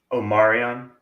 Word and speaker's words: Omarian: UNCC hold on hold on Mike how's that pronounced Omarian Omarian Omarian Omar thank you that's the official